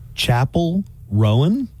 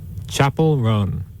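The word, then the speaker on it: Chappell Roan: Chapel Rowan.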